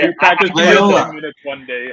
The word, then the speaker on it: Loyola: Loyola. One day. It's like Toyota with L's.